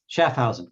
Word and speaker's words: Schaffhausen: Did I pronounce the name right? I should have asked before we went live. Schaffhausen, great.